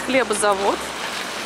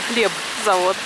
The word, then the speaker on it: хлебзавод: Вот здесь хлебозавод. Ну, правильно говорить, не хлебозавод, а хлебзавод. Это я знаю. Но у нас по привычке почему-то мы его называем хлебозавод.